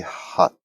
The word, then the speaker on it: hutspot: First of all, it's probably going to be hutspot. Hutspot. That's how you say it.